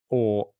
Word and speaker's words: Haaland: Per Jensen says Haaland is pronounced Haaland. So it is Haaland. Is how you pronounce it according to Per Jensen.